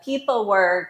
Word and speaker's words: pepelwerk: CEO and co-founder of people work remember we are spell phonetically PE p w e r k it's always nice